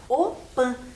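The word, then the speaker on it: opy: são chamadas de opan se escreve como tá na tela ali opi mas se fala opan e normalmente elas são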